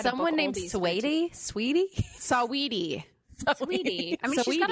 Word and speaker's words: Saweetie: Sweetie? What Help is me. it? Sweetie? Sweetie. How do you say it? It's Saweetie, isn't it? It's Saweetie. Saweety is how you spell it.